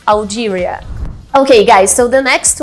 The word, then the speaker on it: Algeria: E o interessante é que no português a gente fala Argélia. Então a gente troca o L com o R para pronunciar em inglês, Algeria.